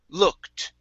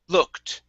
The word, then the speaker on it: looked: ed ending okay um in most cases we are not going to pronounce the e so instead of saying look at the word is looked looked look look okay okay